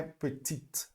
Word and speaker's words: petite: Então, normalmente no feminino, a gente vai pronunciar a última consoante, tá certo?